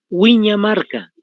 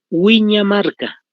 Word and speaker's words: Huiñamarca: Ese es el nombrecito, Lago Menor o Huiñamarca. Con H por si acaso se escribe, con la H, Huiñamarca, tal como se escucha. UI, ¿no ve?